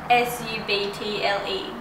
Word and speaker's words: subtle: S-U-B-T-L-E. Subtle. Subtle. Say S-U-T-T-E-L. Subtle. Oh, S-U-T-T-L-E. Subtle? Yay! I say subtle.